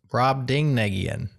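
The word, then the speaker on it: Brobdingnagian: pronounced brad ding negian.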